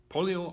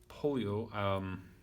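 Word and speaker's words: Pollio: So polio, though I think the O is normally not pronounced, if I understood the green and yellow correctly.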